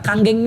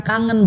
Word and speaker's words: Kangen: Nah, kanggeng ini bukan kangen bacanya Bapak Ibu sekalian ya. Kebetulan nama saya pula kayak nama sebuah band gitu kan. ya itu. Oke. Nah bacanya Kanggeng artinya back to origin atau kembali kepada yang asal.